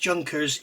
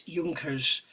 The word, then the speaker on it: Junkers: a piece of rubbish it's not pronounced junkers it's junkers it's a junkers u87 B2 okay it's not junkers it's junkers a junk is a Chinese boat and rubbish this is